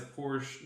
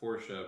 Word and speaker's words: Porsche: and then being shown that someone has a Porsche 911 that's like really cool.